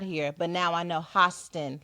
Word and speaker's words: Hostin: and it's pronounced pronounced hostin like oh like hostile the i sound got to look out for our fearlessly come on hostin hostin not host and host